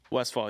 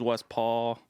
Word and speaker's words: Westphal: Westphal, you said it right, yeah. Westphal. Everyone says West Paul.